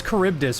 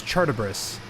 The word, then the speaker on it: Charybdis: He says Charybdis, but he doesn't say it right. He says Chartibris.